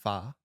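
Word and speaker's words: pho: We got fo actually, which was delish. I just couldn't really eat much. I know you're grieving, but it's pronounced far.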